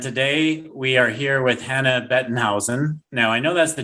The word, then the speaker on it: Hannah Bettenhausen: the show and today we are here with hannah bettenhausen now i know that's the german pronunciation what's the english pronunciation hannah same thing